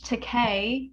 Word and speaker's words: Takei: him all right Dan George Takei I believe it's how you say his name we'll play co the